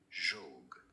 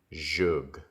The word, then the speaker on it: zhug: In English, this source name is referred to as zhug. Zhug. Now, in Hebrew, the Hebrew pronunciation, how do you say it? Zhug.